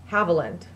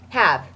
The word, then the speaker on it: Haviland: Number one, this is how you say my name. Haviland. Haviland. Have. Have. Oh. Not Hav. Mm-hmm. Not like little bird, little Haviland.